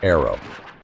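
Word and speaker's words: ARRW: One of the flagship programs right now is the AGM 183A, the air launched rapid response weapon or ARW pronounced arrow.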